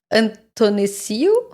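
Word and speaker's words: Athanasiou: Antonisiu? You sound very good saying that. Probably because this is the way that we really pronounce it.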